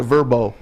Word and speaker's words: VRBO: Yeah, the Verbo.